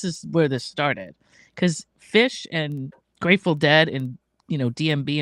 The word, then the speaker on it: Phish: And Fish is spelled Phish, not Fish.